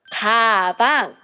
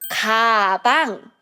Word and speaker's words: 가방: And the next one is a bag, which is 가방. So as you can see, the first syllable, it has 그, 아. 가방. 가방. And the third word is 고기, which means it's meat.